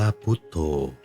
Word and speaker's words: พุทโธ: เขียน เป็น ตัว หนังสือ เรา จะ เขียน พ พาน สระ อุ ท ทหาร สระ โอ ธ ธง อ่าน ว่า พุทโธ อัน นี้ เป็น เพียง